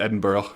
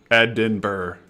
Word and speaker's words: Edinburgh: Edinburgh. That's how you pronounce it. I know it's not Edinburg. I know that for a fact cuz that's a common common mispronunciation, I believe.